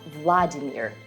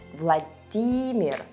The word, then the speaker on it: Владимир: Vladimir. Right, not Vladimir, but Vladimir. The stress goes on D.